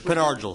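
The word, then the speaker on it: Pen Argyl: You pronounce it, Penn Argyle. That's the resident. He's sitting right there. All right. That's Penn Argyle.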